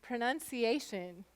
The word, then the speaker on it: pronunciation: It's an O saying it's schwa sound, and it's not stressed.